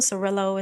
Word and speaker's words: Surillo: Serillo is how it's pronounced.